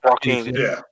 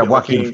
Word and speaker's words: Joaquin: Is it Joaquin Phoenix, right? Yeah, Joaquin. Yeah, Joaquin Phoenix. Yeah, you don't pronounce the J in it.